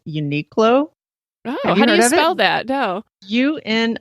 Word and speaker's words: Uniqlo: fan of a store and I hope I'm pronouncing this right I even looked it up it's called Uniqlo know that dough you and I Q L